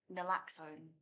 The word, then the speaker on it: naloxone: the pilot of um the nasal spray um naloxone that's how you pronounce it um but it's it sounds like